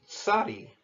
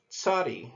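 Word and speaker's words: צ: the next letter is sadi sadi notice whatever I pronounced that it's not merely an S sound but it's got it makes the sound of like a TS together and it also occurs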